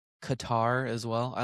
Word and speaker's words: Qatar: But that's not even yours isn't even close to how it's actually pronounced cuz it's actually like a G. It's pronounced with like a G. Kather.